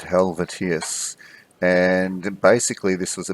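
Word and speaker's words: Helvétius: It's not Helveticus, it's Helvetius.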